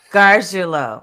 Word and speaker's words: Garguilo: I am super excited because I have Christopher Gargiulo. Did I Garguilo. say it right? The second time. Gargiulo.